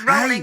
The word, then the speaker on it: Rowling: Rowling. Actually, no, you should have half a point because he pronounced it wrong. It's Rowling as in Rolling Stone.